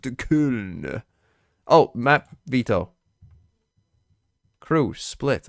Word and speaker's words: Köln: DMV, it's pronounced Köln.